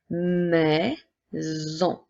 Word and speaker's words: maison: fait le son et la lettre S qui cette fois-ci fera le son lorsque elle est entourée de deux voyelles la voyelle i et la voyelle o et nous avons aussi le son on fait le son en donc si je reprends nous avons maisons donc si je reprends tous ensemble nous avons la maison comme dans la phrase c'est